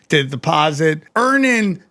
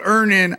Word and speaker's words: Earnin: Download Earnin on the App Store or Google Play. Spelled like earning money without the G.